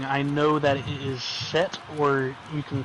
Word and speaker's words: Seth: know that it is Set, or you can call him also Seth. That's how it's spelled. That's how it's spelled, but it's pronounced Set.